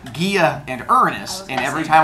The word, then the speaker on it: Gaia: Gods to be born I am going to pronounce them the Greek way which is Gia and Uranus but I've been teaching Junior High